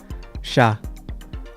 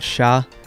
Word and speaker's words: siya: On a side note, an interesting thing about the word siya is that since it sounds like the word she, when you hear a native Tagalog speaker speak English, they might say she when they mean he.